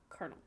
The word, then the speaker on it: colonel: spelling also changed, and the pronunciation was shortened to 2 syllables, colonel.